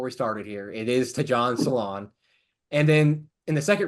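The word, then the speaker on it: Tidjane Salaün: and suffering so sixth overall The Hornet draft ton salon and that is how he pronounce his name I did look it up before we started here it is ton salon and then in the second round they got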